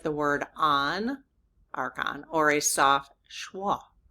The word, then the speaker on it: Archon: Okay, so the first syllable is arc. I got that part. Um and then the second syllable is on, Archon. Or you H N. Sounds like the word on, Archon, or a soft schwa,